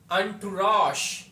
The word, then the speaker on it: entourage: 173 पे जो वर्ड लिखा है इसकी प्रोनाउंसिएशन है अंटुरॉश।